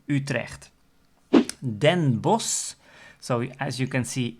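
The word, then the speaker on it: Bosch: for the ending of the name Utrecht then boss so as you can see it's s-c-h at the end and we don't pronounce the CH that means the pronunciation of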